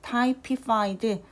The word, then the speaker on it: typified: typified. 그래서 앞에 있는 y가 일반적으로는 우리가 typify, t라고 동사일 때는 읽지만 여기에 ed가 붙을 때에는 typified 하고 타입, 우리가 명사할 때 타입이라고 하는 것처럼 이렇게 발음이 됩니다.